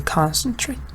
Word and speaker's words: concentrate: For example, concentrate is a verb, but the stress is on the first part, right? So you say concentrate.